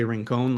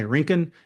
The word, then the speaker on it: Rincon: I wanted to say ringone like in Spanish, but the locals say Rinkan.